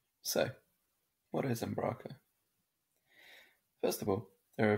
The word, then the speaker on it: Umbraco: First of all, there are a few ways of pronouncing it. Umbraco or Umbraco. I'll be pronouncing it Umbraco, as it's my preferred way of pronouncing it. But in case you get confused, different people in the community pronounce it differently.